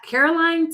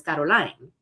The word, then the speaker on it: CarolLaine: Um, and so I went from Caroline to to teach myself how to say my name. And then I realized that the way that my family says my name is Caroline. And so then the next step was for me to say my name, Caroline.